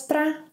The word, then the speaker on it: pra: Don't forget that para can be pronounced as pra.